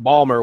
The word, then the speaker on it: Baltimore: I worked out of Baltimore for 10 years I can't no way I actually brought it up how are you from Baltimore it's pronounced Ballmer when you're from the